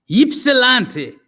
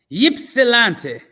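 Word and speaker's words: Ypsilanti: l s r l a n t i ipsilanti there you go ypsilante wow is an interesting word in it yeah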